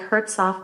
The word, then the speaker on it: Hertzof: about hurt what does that second syllable sound like subject off David say it again subject off David so like Hertz off o subject o David so you think your last name had two syllables subject yeah David and